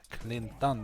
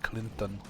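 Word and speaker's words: Klint: Clinton in the chat clean done that's how you say it not Clinton Clinton that's kendama in Swedish Swedish nickname for the actor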